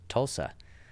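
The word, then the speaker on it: Tulsi: And I guess it is pronounced Tulsa. As opposed to what? Tulsa. Like Tulsa Gabbard?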